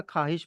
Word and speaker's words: ख्वाहिश: For example ख्वाब या ख्वाहिश, उसमें आप खाब या खाहिश पढ़ते हो, वाव पढ़ा नहीं जाता, मतलब प्रोनाउंस नहीं होता, साइलेंट रहता है।